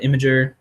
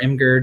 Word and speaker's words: Imgur: I do Imager or Imgur, depending on how you say it.